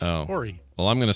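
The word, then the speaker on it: Horry: says that it's pronounced ory county and not Hy even though there's an H at the beginning of that it's ory well I'm going to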